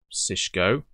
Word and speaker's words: CISSHGO: that file so that i think i pronounced it right is sisko it's a fantastic little